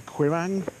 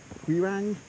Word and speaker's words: Quiraing: I'm in northern sky the sky and I've pronounced this incorrectly the queer Aang we rang it's this kind of geological fault that runs